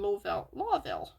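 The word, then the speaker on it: Lowville: And it sounds a lot like what's happening in Lawville. It's spelled L-O-W, but it's pronounced law.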